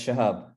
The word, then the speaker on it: Shahab: me a little bit yeah it's shahab it's correct shahab great amazing so